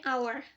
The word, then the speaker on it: hour: Jadi our itu kan pengucapannya our pakai O.